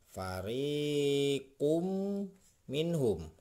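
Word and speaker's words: فريق منهم: Nah, ini fariqum minhum. Nah, fariqum. Nah, ini tidak dibaca kun ya. Ini dibacanya kum. Ya, jadi dengung.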